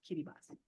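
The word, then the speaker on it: Kiribati: was teaching kids from Kitty boss an Islands I never heard of but spelled k i r i b a TI but it's pronounced Kitty boss um I wanted to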